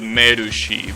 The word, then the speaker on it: Mercy: the best example is a song called kimagura Mercy well they pronounce it merushi because you know Japanese and